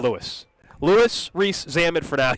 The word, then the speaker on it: Louis: One report said Luis. Mm-hmm. One said Louis. We're going with Louis.